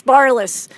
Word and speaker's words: Barlis: daily lives what I introduce to you Barrett is it that's barliss at least that's how my mom says it's pronounced oh god yeah second time I believe